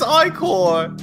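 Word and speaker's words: ichor: for your finest i-corps i thought it was pronounced itch or ah oh it's it's i-core hr it's icon that's how they point out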